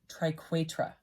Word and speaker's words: triquetra: I actually had to look up how to say this word because I didn't know how to pronounce it. And it's triquetra.